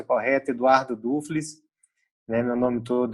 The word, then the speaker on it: Duffles: Falando um pouquinho quem que é o Eduardo, aí eu vou te corrigir aqui, te peço desculpas, o nome correto, a pronúncia correta, Eduardo Dufles, né?